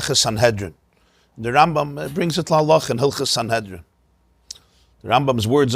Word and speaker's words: Sanhedrin: it in his commentary on gemara so it's pronounced sanhedrin it brings it rambam's words are it's based